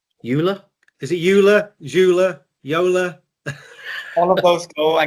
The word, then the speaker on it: Joola: is it Ula Jula Yola all of those go I guess in the us but we go with Yola Yol so Y is proper okay fine we've been